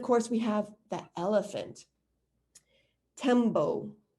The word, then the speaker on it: tembo: Tembo is how you say it in Swahili, tembo.